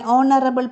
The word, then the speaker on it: honorable: in these words examples an honest made an honorable post an hour so you can see h is silent here in that case also we use